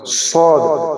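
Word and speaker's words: صاد: আসে মুখটা অল্প গোল হয় আর মোটা করে উচ্চারণ হয় সদ আর জিহ্বার কিনারা ঠিক এটা ধরেন আছে জিহ্বার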